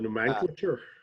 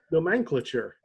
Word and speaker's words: nomenclature: The nomenclature. Yes, if you want to pronounce it like that, you weirdo. Wrong emphasis on the wrong syllable.